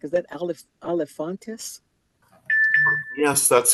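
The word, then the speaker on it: Alefantis: Am I pronouncing your last name correct? Is that Olifantis?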